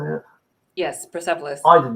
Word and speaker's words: Persepolis: Yes, Persepolis.